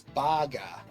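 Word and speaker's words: バーガー: It's not short in Japan, it's baga.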